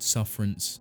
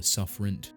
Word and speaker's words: Sufferents: description for it there you can either pronounce it sufferance or sufferant suffer for short hell you can still